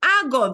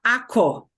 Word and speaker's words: hago: Hago, this G pops up out of nowhere. We do get an O, but it's not ako. It's hago, hago, H-A-G-O, okay?